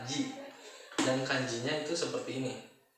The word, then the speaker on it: 時: Nah, dalam bahasa Jepang, arti jam itu bukan biasanya, tapi emang diucapkannya adalah ji.